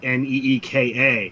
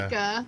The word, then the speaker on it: Nica: I say rustica, so if it's rustica, somebody else is saying Nica, which that doesn't someone make got sense. on her and said it's Nica, Neeka.